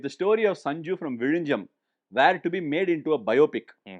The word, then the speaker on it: Vizhinjam: You are the one who says it right When there's a 'Z' in a word, many from the North might pronounce the word with a 'Zee' and call it Vizeenjam If the story of Sanju, from Vizhinjam, was made into a